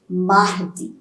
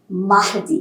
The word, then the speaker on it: mardi: So lundi, L-U-N-D-I, mardi. Mahdi. I'm not pronouncing it as Mardi, remember, it's only Mahdi. I'll tell you why we are not pronouncing R when we discuss about pronunciation rules.